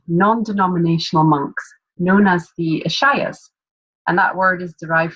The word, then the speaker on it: Ishaya: Ishaya? Yep, that's perfect. Yeah. Which simply means that she has committed her life to serving consciousness and humanity alongside an order of non-denominational monks known as the Ishayas.